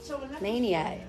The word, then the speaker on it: Manteo: Like, So how do you pronounce Manteo? Manio. That's right, Manio. You pronounce it Mannyo, Manio.